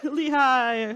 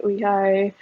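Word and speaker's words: Lee Hi: Lehigh. How do you say your name? So she Because released, it's either Lee or E, and yeah, I think in Korea it's technically E, yeah, but of course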